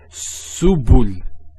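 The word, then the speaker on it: سبل: So to pronounce this has a S sound. So su, bu, and this is the lam, like the letter L. So subul, subul.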